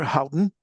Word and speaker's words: Houghton: She is Chief Master Sergeant retired Houghton.